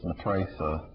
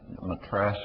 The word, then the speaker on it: Matraca: ways to pronounce it the other one that people often don't know in the book is matraca lots of times people call her uh Matra matracia or I don't know I